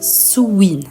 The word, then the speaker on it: Samhain: Par exemple, Samhain se prononce Samhain.